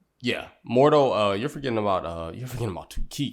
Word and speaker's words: Mordo: Mordo. Yeah, Mordo.